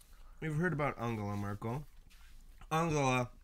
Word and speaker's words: Angela: heard about Angela Merkel I'll go up being the German way to pronounce Angela mm-hmm just to clarify that in case we accidentally say Angela during the Senate yeah I'm Merkel being